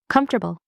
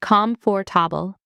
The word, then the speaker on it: comfortable: Comfortable. Most people say comfortable with 4 syllables, but native speakers say comfortable, just 3 syllables. Drop the or.